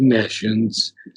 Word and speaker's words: nescience: wears the rigid face of fate and her sport of death and pain and nescience, his Nations. Is age. that how it's pronounced?